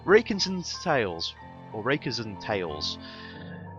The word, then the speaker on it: Rakenzarn Tales: And I'm not exactly sure how it's pronounced, but putting it into a text-to-speech. Rakenzarn Tales. So, Rakenzarn Tales, or Rakenzarn Tales.